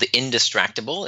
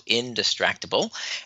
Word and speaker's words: Indistractable: So the book is called Indistractable. It's spelled I-N, the word distract, A-B-L-E, so Indistractable.